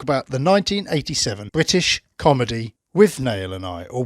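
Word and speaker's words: Withnail and I: the 1987 british comedy with nail and i or with nolani that's how they pronounce it in the film isn't it with another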